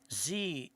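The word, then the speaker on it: zie: Z is the subject pronoun and is pronounced Z-E-E, Z, and her is the subject and possessive pronoun and is pronounced her.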